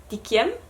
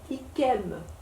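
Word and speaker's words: Yquem: So we were looking at that like what Chateau Dikiem? Dikem. Chateau, but it's Dikiem. But you don't pronounce. It's Dikem.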